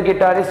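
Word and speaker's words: guitar: Next is your when you feel गिल्ट, then you से गिल्टी, इसमें भी you silent है। Next is Newton here, when you want to enjoy with a गिटारिस्ट, यू कैन say play गिटार, गिटार को बजाते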